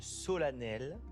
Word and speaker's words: solennel: Solennel. Solennel. Et là, Non mais on est d'accord qu'on l'écrit solennel mais on le prononce vous solennel.